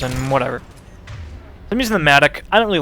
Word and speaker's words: Mattock: It's pronounced Mattock.